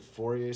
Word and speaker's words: Fourier: It is shown to have important connections with the study of Fourier series, Fourier. It's funny, you'd think it's pronounced Fourier if you were English and American,